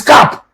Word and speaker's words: cap: cop do you think no cop the real pronunciation the real pronunciation is cap that is That is the